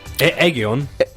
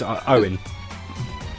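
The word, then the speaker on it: Ioan: Egion. It's Owen. I-O-A-N. Owen. My middle name's Owen. That is not Owen. That's the Welsh spelling of Owen.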